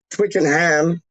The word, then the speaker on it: Twickenham: they say wyclone like twickenham is like tweaking them but they can't pronounce